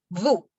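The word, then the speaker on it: vous: significa usted significa ustedes pronunciación boo boo la s no se pronuncia y el encuentro de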